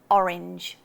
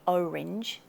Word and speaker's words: orange: Orange. So I've heard a lot of Americans say orange. It's not. It's orange.